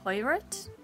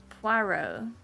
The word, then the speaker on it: Poirot: Sort of pronounce Poirot. Oh, that makes sense. It's French. Poir. Yeah, okay. Yeah. Mm-hmm. Poirot. Poirot? Maybe.